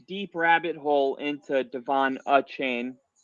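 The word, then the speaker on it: Achane: And I got down this deep rabbit hole into Devon uh chain. That's how it literally on Texas&M's website. It showed you how to pronounce it and it was like a uh chain.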